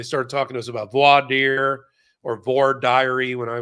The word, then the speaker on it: voir dire: Voir dire is what we say. Or they said voir diary in the South. And which, thank God I figured out from other people, that's not how you say it up in New York.